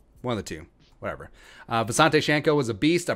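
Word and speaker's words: Visanthe: Visante Shanko was a beast. I probably spelled the name wrong. So for a long time, everyone just called him Visante, whether it's TV, whether it's PA, whether it's whatever.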